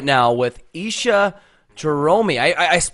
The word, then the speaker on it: Isha Jahromi: We are live right now with Isha Jahromi. I pronounced that right, correct?